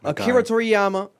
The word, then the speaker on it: Akira Toriyama: Akira Toriyama, a legend.